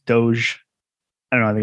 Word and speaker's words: Doge: you mispronounce deutsche i i always call it dodge uh but it's doge i don't know i